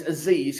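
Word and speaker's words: Azeez: I suppose it's Aziz because it's too easy.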